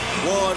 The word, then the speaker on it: Juan: you hear the name Juan Manuel Marquez you know that means trouble as soon as the jpar comes out although it's pronounced with the w as in one you know when you